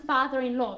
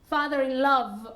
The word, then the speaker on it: father-in-law: old okay very good you can play with the pronunciation of father-in-law so you know or swinging a mother-in-law I hear many people saying father in love or mother in love and that means that you are in love and I'm whatever okay